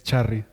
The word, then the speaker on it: Chari: last name wait is it pronounced Charlie it's Chari yeah I'm not saying that